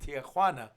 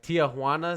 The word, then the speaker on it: Tijuana: a lot of people, instead of saying Tijuana, of course, they're not going to say it in Spanish. They're going to say, they're not going to say it in English either. They're going to say Tijuana.